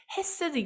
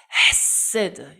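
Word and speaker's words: חסד: 말이 해 셀 2 가슴부터 끌어 올리셔야 때는 그런 어 발음을 급해 아서 하셔야되요 했으되 게 아니고 헤세드 이렇게 말씀 바 발음을 하더라구요 그 유대인들이 에쎄 드는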